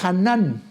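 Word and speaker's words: חנן: La palabra gracia es traducida de su original hebreo que se pronuncia Hanan.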